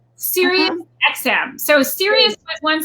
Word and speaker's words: Sirius: Sirius? Sirius XM. So Sirius was one satellite company and XM was another, and they came together. Ironically, they have recently merged also with Pandora. So we're on Sirius XM.